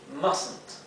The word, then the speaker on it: mustn't: Fíjense que las T's finales se pronuncian bien claramente. Must not. ¿Bien? Y se abrevia así, mustn't.